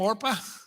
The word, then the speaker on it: Orpah: Do you know that the reason her name is Oprah is because her family mispronounced the name Orpah?